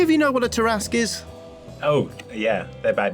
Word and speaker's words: Tarrasque: Do any of you know what a Tarrasque is?